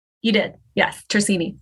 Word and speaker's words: Tersigni: Tersigni, like no G.